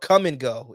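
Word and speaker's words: Kum & Go: It's called Come and Go, and it's spelled KUM.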